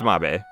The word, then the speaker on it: Mabe: mabe village or mabe is that how you say mabe oh i think it's mabe village yeah i don't think it's made village i'm pretty sure it's mabe so yeah like i